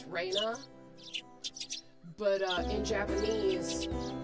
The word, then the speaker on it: Rena: Uh, it's supposed to be Reina Raina. So, so you can't really notice the difference in English, but it's a subtle difference in the in the pronunciation in Japanese.